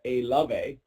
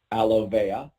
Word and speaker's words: Alovea: We like to call it Alove. Actually, that's not how you pronounce it. It's Alovea.